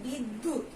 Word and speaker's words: বিদ্যা: যেমন বিদ্যুৎ, আমরা কিভাবে উচ্চারণ করি, বিদ্যুৎ। হ্যাঁ, দয়ের কি দুইবার উচ্চারণ হচ্ছে। তারপরে বিদ্যা, আমরা কি দয়ের দুইবার উচ্চারণ করছি, বিদ্যা।